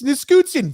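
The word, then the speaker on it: Nichushkin: Grumpy can't pronounce names. What are you doing? It's Niskutsin, Valeri Niskutsin.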